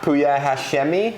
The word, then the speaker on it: Pouya Hashemi: my new apartment so I'm here with puya puya Hashmi is that how you pronounce it that's how he's perfect well thanks